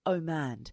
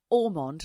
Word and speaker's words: Omand: Donald Omand. Now, I keep getting his name wrong. I keep thinking it's Orond, like Julia Orond, the actress from the 90s and the 90s.